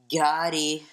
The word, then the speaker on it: ghoti: Gotti. Oh, this one? It's a weird way of saying fish, but it's spelled GHOTI.